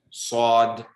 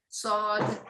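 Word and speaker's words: صاد: Sod. Very good. Okay, sister. Sod, Very good. So this is like a heavy S.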